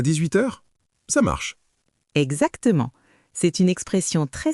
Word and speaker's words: marche: On dit marche, pas marche. Ça marche.